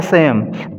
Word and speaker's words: Psalm: the word Psalm, Psalm, pronounced as Psalm, Sam.